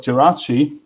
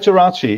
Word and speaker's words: Geraci: Our speaker today is Robert Geraci. I will stick with the Italian pronunciation of his surname because I wouldn't know how to do it otherwise.